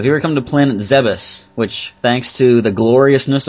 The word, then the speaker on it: Zebes: So, here we come to planet Zebus, which thanks to the gloriousness of Metroid Other M, we now know how to pronounce.